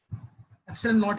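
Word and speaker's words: epsilon nought: कहीं भी एप्सिलॉन नॉट मतलब वो बात कर रहे हैं, इसमें ऐसे लिखते हैं, ऐसे ही है, NOUGHT लिखते हैं इसमें से। एप्सिलॉन नॉट प्रोनाउंस करते हैं इसको।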